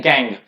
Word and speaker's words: gangue: गैंग। इसकी pronunciation GANGUE लिखा है ना, इसको गैंग पढ़ते हैं।